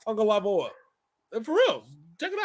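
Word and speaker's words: Tagovailoa: tagalog or how it's spelled but yet it's pronounced tango lava and for reals check it out if you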